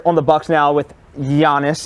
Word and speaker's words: Giannis: Anyway, Dame Lillard on the Bucks now with Giannis. It's a soft G. With a Y.